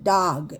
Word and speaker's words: dog: 근데 G 때문에 아보다는 약간 아와 어의 중간으로 발음하시면 돼요. 그래서 나그가 맞지 않냐 옮기는 사람이 있는데요. 나그라고 발음하는 사람 없죠. 그래서 dog 이렇게 하시면 돼요.